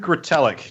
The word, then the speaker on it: Retallack: Luke's last name is Metallica with an R instead of an M and drop the A.